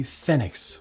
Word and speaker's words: Phenex: Hello, this is my MG Phenex, or you can pronounce it Phoenix if you want.